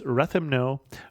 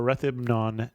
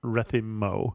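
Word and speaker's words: Ρέθυμνο: It is Rethymno or Rethymnon, not Rethymmo. So Chris, you are pronouncing it correctly.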